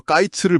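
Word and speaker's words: קַיִץ: 하나님이 아모스에게 여름 과일 한 바구니 히브리어로 까이츠를 보여 주세요. 그러면서 내 백성 이스라엘의 끝 히브리어 캐츠가 이르렀다고 말씀하시죠. 아까이츠랑 캐츠 발음이 비슷하네요.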